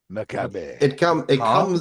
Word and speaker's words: Macabre: Which I've been told is the correct way to say it, because the first time I said that, I think I said macabre, and I got a lot of made fun of. Wrong in every way, yeah.